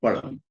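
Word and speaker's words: பழம்: In Tamil, fruit is pronounced as palam.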